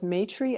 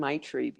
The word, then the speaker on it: Maitri: People pronounce it both Maitri and Maitri because of the way Okay. it's spelled, Maitri.